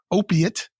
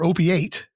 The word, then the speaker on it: opiate: i chose the word opiate or op8 it has both pronunciations o-p-i-a-t and we'll use the